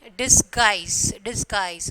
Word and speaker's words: disguise: So, you are when you are pronouncing, the U is silent. Okay, biscuit, biscuit, and then guest, and then disguise.